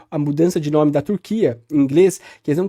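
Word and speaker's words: Türkiye: com peru por exemplo O Andre disz que a pronúncia É turqu mesmo né como parece em português é então sua mais como o a a língua Nativa né como turco mesmo enfim e eles determinaram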